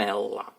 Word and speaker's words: умерла: an R sound But in a feminine case of this verb (umerla) we hear only , the R disappears We pronounce "cherlenyi" as